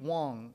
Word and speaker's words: Wang: woman named Amy B Wong Amy B spelt Wang but pronounced Wong there's another am in